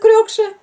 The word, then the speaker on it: Крёкша: Мы говорим Крякша. Крёкша, Крякша, Крякша. А там четко произносится Крёкша.